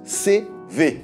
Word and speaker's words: CEWE: livres photos c'est-elle CV ce W ça se prononce CV allez on passe en